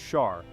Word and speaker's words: SAR: The SAR, pronounced Shar, is the 60 squared unit of measurement in their sexagesimal system.